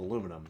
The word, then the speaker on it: aluminium: I pronounce the I since that's how it is in German. Makes sense. Makes sense. Again, I I fully acknowledge that it is incorrect to call it aluminum because it's spelled aluminium, right?